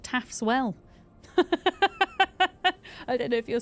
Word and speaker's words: Taff's Well: Taff's Well, it's spelled like this. Taff. Well, there we go.